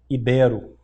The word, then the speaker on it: ibero: Como é que ela é pronunciada de acordo com a gramática? Ibero. Ah, mas a gente ouve muito íbero, né?